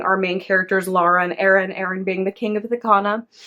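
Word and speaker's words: Aren: main characters, Laura and Aaron being the king of Ithaca. At least that's how I said his name. It's spelled A-R-E-N. So I said Aaron, but who knows?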